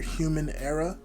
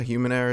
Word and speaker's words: HumanErraH: You can find his other artistic ventures under HumanErraH. That's human and era, like it's spelled era, ERA, but it sounds like error.